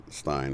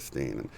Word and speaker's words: Berenstain: Somebody said that they actually got in trouble for pronouncing it Stein instead of Steen.